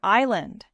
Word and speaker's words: island: Letters lie. They really do, like the word honest. The H is silent, or knife, or island.